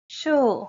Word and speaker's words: 墅: 素食 means vegetarian diet 墅 ㄕㄨˋ shu 和 and 素 ㄙㄨˋ su 你能聽出差異嗎? Can you hear the difference?